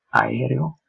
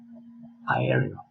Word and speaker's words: aereo: Another important tips about the pronunciation is exactly the pronunciation of the double vowels A-E or E-U. It's important to say that these two vowels together, they don't generate an amalgamated sound, but each letter has to pronounce distinctly.